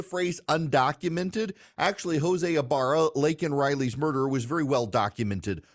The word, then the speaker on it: Laken Riley: policies put in place, was able to murder Laken Riley. And we now know Joe Biden is more concerned with using the phrase undocumented than he is with mispronouncing Laken Riley's name, calling her Lincoln Riley.